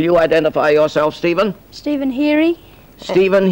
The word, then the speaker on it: Heary: Stephen Heary. Stephen Heary. Stephen Heary. How do you spell that?